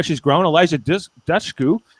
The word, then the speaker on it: Dushku: Elijah Dushku.